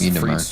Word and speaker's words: frites: It's frites. Frites is spelled F-R-I-T-E-S.